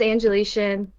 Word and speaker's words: Angelitian: if you must ask my name is angelician a lot of people uh have a do have a hard time pronouncing that but if you want to know where it came from it was angelina which is my first name i think that's what